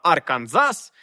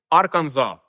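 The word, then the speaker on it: Arkansas: ми називаємо ілліной та Арканзас треба читати без крайньої с ілліной арканзав і ви можете здогадатися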